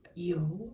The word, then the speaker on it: Yeoh: here we have Michelle yeoh I think I constantly say her name wrong but I think you just say it yo like yo yo sir but look at her